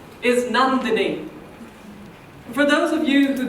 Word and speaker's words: Nandini: come from the subcontinent that's spelled like a nun with a habit you know the people who prayed with rosaries but I'm not a nun and the last part of my name is dini as in Houdini the magician which I am also